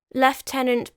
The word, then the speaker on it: lieutenant: burnt at the stake left tenant by the way I have mentioned this before is the English and technically proper pronunciation of the American word Lieutenant on the 18th of